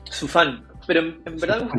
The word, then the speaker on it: Sufan: Hoy consulta tu apellido, ¿cómo se pronuncia? Su fan, pero en verdad me gusta que me digan, es más fácil.